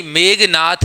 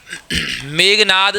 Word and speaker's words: मेघनाद: ऐसे ही मेघनाथ नहीं, मेघनाद शब्द मिल जाएगा।